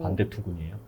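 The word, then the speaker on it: van der Toorn: 반대투군이에요.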